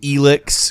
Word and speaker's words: Elex: familiar to me there's a substance called elix which isn't pronounced anything like how it's spelled factions deal with elix